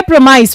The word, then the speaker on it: premise: और ये क्या है, इसकी प्रोनाउंसिएशन क्या है? प्रेमाइस.